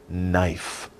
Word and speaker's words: knife: andel it's knife knife the k is silent shh don't say the k it's just knife but we spell it with a k knife english is crazy i'm sorry okay okay 15.